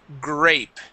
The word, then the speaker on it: grape: Um, this word here is grape. Grape. Okay. Give me the P at the end.